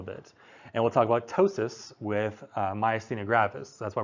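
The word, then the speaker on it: ptosis: you have what's called tosis with a silent P right p t o s i sis or tosis is where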